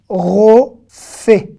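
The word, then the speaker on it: רופא: Le Aleph ici ne se prononce pas, évidemment. Il n'y a rien à prononcer, donc on ne le prononce pas.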